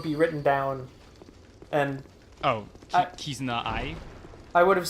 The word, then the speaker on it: Kizuna: you said would be written down and oh kizuna I I would have said kazuna AI I no I don't I don't you